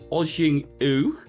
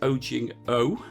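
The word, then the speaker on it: ojingeo: What Korean food is ojing-u, which is spelt OJING-EO? So what Korean food is ojing-o?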